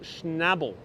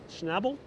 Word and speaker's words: Schnabel: rise that high devotee says his name is pronounced schnabel schnabel schnabel hey jose thank you so much for a